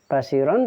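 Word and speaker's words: بصيرا: Basiron dibaca basiro.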